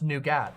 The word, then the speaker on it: nougat: It's pronounced nougat.